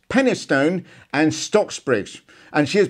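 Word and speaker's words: Penistone: all right stop giggling it's actually pronounced pennystone and stocksbridge and she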